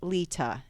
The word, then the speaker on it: Leta: want status life with lita l-e-t-a there's no d in it and i did notice